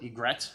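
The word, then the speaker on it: Ygrec: They call it Ygret, which is how you say why, I guess, in French.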